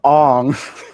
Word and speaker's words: Aang: Guys, it's pronounced Ong. It's not Ong. That's the bad movie version.